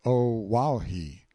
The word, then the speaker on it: Oahu: I named him after this island, Oahu, pronounced O Wahhei.